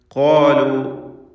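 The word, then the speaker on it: قالوا: ഖാലു, ഖാഫിനും അലിഫിനും തഫ്ഖീം കൊടുക്കണം, സൂചിപ്പിച്ച കാര്യമാണ്, തടിപ്പിച്ച് സ്വരഭാരത്തോടെ ഉച്ചരിക്കുക.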